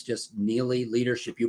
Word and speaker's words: Neillie: they'll get my monthly blog otherwise it's just nearly leadership you pronounced it correctly my last name is spelled